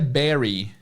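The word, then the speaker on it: bury: escrita é Be You are why mas a pronúncia é Barry Olha que loucura b u r y e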